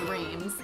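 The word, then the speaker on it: Reims: m s yeah yeah so the english pronunciation is reams yeah like french pronunciation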